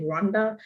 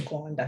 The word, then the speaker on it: Rwanda: I mean, some people might want to say Rwanda, but the real pronunciation is Gwanda.